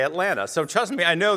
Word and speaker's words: Atlanta: I didn't know that you're not supposed to pronounce the second T. And I was saying, I'm Josh Levs in Atlanta.